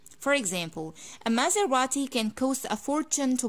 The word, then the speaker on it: Maserati: the brand after that i divide it into three ports and i say maze radi ma and again you can pronounce the t like normal t maserati for example a maserati can cause a fortune